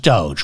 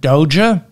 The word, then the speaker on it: DOGE: left the White House, it's pronounced Doge, not Doja, and it's pronounced the White House, not the White House.